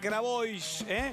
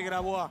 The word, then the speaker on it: Grabois: Se quedan en la pantalla 9 con Viviana Canosa y nada personal, Juan Grabois, no se dice Grabois, se dice Grabois, me dijeron, bueno, lo digo así.